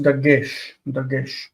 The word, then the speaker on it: Dagesh: Some people will call it a Dagesh. Just depends on where you put the accent. In Hebrew, with the modern pronunciation, is Dagesh.